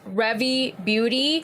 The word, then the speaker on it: Rare Beauty: Also, it's Revy Beauty. I did my homework and research and that is how they pronounce their name.